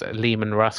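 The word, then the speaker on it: Leman Russ: um yeah I've seen a lot of people mispronounce it it's Liam and Russ guys uh just a heads up um this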